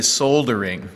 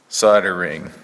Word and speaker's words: soldering: this upside yeah so the Brits say solder ring because there's an L there right soldering okay that's American alright probably wrong but it's American the L is silent okay anyway have fun with